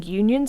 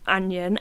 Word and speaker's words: Union: I want to say Union snails basically they're spelled like onion and I said onion and look like a right tit because all the guys were like no it's a union and I was like